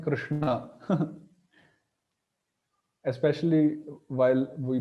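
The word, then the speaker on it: कृष्ण: place of pronunciation this the upper sha is known as cerebral sha or Mur sh where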